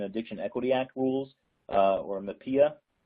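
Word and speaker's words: MHPAEA: Equity Act rules, or MAPIA. I've heard that pronounced in many different ways, but I'll say MAPIA.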